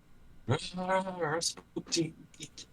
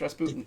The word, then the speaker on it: Rasputin: Everybody says Rasputin's name wrong. Rasputin. Yeah, it's Rasputin.